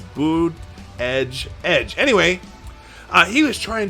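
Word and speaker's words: Buttigieg: but a judge here's here's how you officially say his name you say booty edge edge like you know the guitar player for you too booty edge edge or booty no boot edge edge not booty edge edge that would be booty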